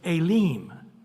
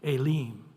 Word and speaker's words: Elim: It'll actually say Elim. So the E has an A sound and the I has an E sound, Elim.